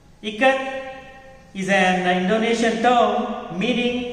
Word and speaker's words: Ikat: Someone yelled Ikat, and a few children giggled. Janaki teacher said it is pronounced I as in it, Ka as in Kamala, and T as TH in both. Ikat is an Indonesian term meaning to bind or knot.